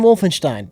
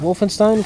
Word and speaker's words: Wolfenstein: somewhere which pronounces is Wolfenstein correctly how do people say it oh probably Steen no I think you say Wolfenstein yeah and a lot of people say wolfen Stein that's the right way but you say